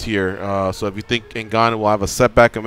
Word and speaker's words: Ngannou: Ngannou. Ngannou, yeah, that guy looks like a beast.